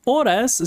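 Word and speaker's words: horas: So oras starts with H but it's followed by O. So that's that's the reason we have to change to U because the H is silent.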